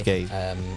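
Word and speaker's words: Guéhi: for Palace, and then to pronounce his name, Gay. Okay. It's Gay. You would know.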